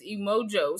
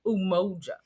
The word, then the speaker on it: Umoja: But it is Kwanzaa and it is Emojo. So we Moja. I be saying it wrong. Umoja.